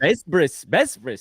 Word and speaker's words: Besbris: I've been told that the bes at the beginning is really like bait, so the name translates to House of the Covenant, but really it's like a Yiddishized pronunciation of bait brit that became Besbris. So if you meet like